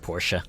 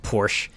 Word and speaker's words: Porsche: you know for the longest time I actually mispronounced Porsche I thought it was pronounced Porsche I imagine most people pronounce it like that